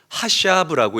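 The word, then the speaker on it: חשב: 선으로 바꾸사 히브리어로 하샤브라고 읽고 발음합니다.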